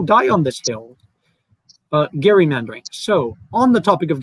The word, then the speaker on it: gerrymandering: and yes i will correct you if you pronounce it gerrymandering because that's just not how it's pronounced and i'll and i will die on this hill but gary mandarin so on the topic of gerrymandering 2020s which